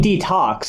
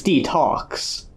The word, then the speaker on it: De-Talks: So the whole goal of O&A De-Talks is to, I keep saying detox because that's what it's a play off, but it's De-Talks. I guess I should specify the pronunciation there.